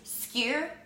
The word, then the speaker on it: skyr: It's skyr, S-K-Y-R, Icelandic skyr.